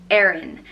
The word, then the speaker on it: Erin: pronounce the next name is Erin which is pronounced err in Aaron and Aaron means from Ireland Ireland in Irish